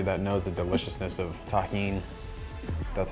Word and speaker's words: tahini: Shout out to everybody that knows the deliciousness of tahini. That's how you pronounce this.